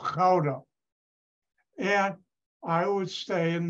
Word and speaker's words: Gouda: part of Unilever and it was headquartered in Gouda that's not the way it's pronounced it's fatigue a town where the cheese is from and it's called Crowder and I would stay in the hay which